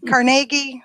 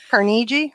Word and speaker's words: Carnegie: it's a car night carnegie or Carnegie I think it depends on what part of the country or world you're in um and I hope